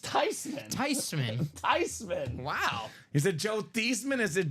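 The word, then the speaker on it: Theismann: the tisman story Tom the tysman it's actually pronounced tysman tyman tysman wow is it Joe thesman is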